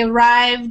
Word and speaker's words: arrived: place to swim um same with he arrived has the D sound but checked has more